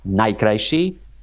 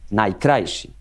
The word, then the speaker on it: najkrajší: For example, in Eastern Slovakia, it's interesting that they put the accent on the penultimate syllable. Because in Slovak, the stress is always on the first syllable. So it's like, it sounds Polish. It's like, it's not najkrajší, but it's najkrajší.